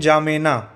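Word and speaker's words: N'Djamena: की कैपिटल है एंड जाणा स्पेलिंग यह है लेकिन इसको क्या पढ़ते यहां पर डी साइलेंट है तो एग्जामनर यह कैपिटल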